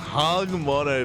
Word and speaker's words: HonMonO: It's pronounced HonMonO, Papi.